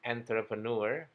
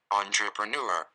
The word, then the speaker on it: entrepreneur: Ini sering sekali diucapkan enter dengan pengucapan entrepreneur, enter, dan di situ kesalahannya biasanya karena harusnya kata ini diucapkan dengan pengucapan onter. Kita cek. entrepreneur, entrepreneur, Entrepreneur.